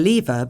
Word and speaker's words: lever: He's grasping the lever between his fingers. 예, 발음 재밌네, 그죠?